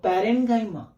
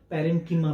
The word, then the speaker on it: पैरेन्काइमा: सी, कौन कौन, तो पैरेन्काइमा, कॉलेनकाइमा और स्क्लेरेन्काइमा। कई जगह इनका प्रोनाउंसिएशन पैरेन्कीमा भी रहता है, पैरेन्कीमा, कॉलेनकीमा और स्क्लेरेन्कीमा दोनों चलता है।